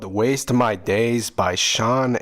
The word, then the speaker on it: Shaun: This one's called Waste My Days by Shaun Angel, pronounced like Shawn.